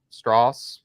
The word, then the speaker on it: Strauss: we find out that Strauss, is that how I said? Did I pronounce that correct? Straws. Yeah, it's like straws.